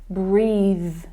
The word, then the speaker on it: breathe: So that changes, and it's using the voiced consonant sound when we use breathe.